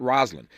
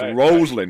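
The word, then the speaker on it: Rosalynn: you in a heartbeat it's not Roslin people call her Roslin all the time that's not how she pronounced it sorry no no no no no no no no I'm just saying to the audience not to Ed to to the audience it's rosand and he will tell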